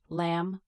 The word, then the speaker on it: lamb: Lamb, comb, bomb, thumb, debt, doubt, subtle. Lamb is pronounced lamb.